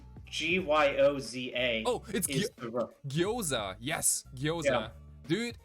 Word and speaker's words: gyoza: okonomiyaki no that that no no it's like g-y-o-z-a oh gyoza yes gyoza dude but yeah in